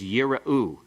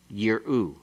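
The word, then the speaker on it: יִרְאוּ: The first one is yira'u. It has a vocal schwa. The second one has a silent schwa. Yir'u.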